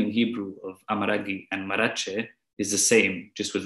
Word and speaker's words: Marrache: Marachi is spelled with a gim at the end which has the sound of G.